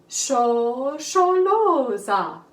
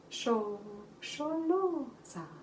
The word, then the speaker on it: Shosholoza: tried to write them the way you would pronounce them. Echo me. Shosholoza, Shosholoza, Shosholoza, Shosholoza.